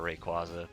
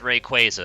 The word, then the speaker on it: Rayquaza: it if you decided you wanted it for rayquaza oh that's another thing i meant to say at the beginning yes i know it's technically pronounced rayquaza i've spent like 15 years of my life